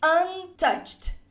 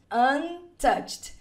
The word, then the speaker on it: untouched: Atenção para o finalzinho da pronúncia aqui, ó, de untouched. Ele tem esse som de T no final. Untouched, untouched, untouched sheets of clay.